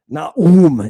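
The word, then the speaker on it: Ναούμ: Here it says, this is Nahum. Naum is how you say his name in Greek, which is its original.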